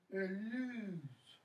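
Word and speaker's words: alys: Eluse. Pronounce that with a smooth s.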